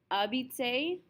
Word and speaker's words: habiter: begins with a vowel because we never pronounce the H. It's habiter.